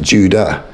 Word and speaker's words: Jude: a fun fact I learned that apparently it's pronounced Judah although I'll say two because it's probably a